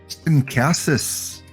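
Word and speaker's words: Casas: We'll go to Cassis. That's how you pronounce his name.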